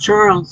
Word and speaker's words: Xarles: Katja says, Xarles is pronounced Charles as far as I know.